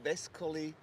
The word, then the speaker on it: Vescoli: no, but my friend, it is Vescoli V like Victory, Uh-huh.